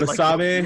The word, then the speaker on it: Basabe: Basabe, like wasabi.